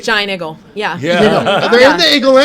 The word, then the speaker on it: Giant Eagle: week anyway they're there say it right giant igle yeah they're in the